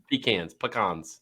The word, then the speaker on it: pecan: pecans. Wow. How do you say it? Pecans or pecans? I say cons.